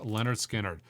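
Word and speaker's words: Lynyrd Skynyrd: Another unbelievable record, a carryover from the last top 100 imprint analog records you should own list, is Leonard Skinnard's pronounced Leonard Skinnard.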